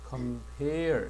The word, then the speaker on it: compare: 요거는 동사가 되면 compare 해서 뒤쪽으로 가면 이렇게 발음해야 돼. compare 이렇게 된다.